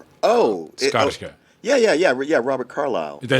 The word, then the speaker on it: Carlyle: Yeah, Robert Carlyle.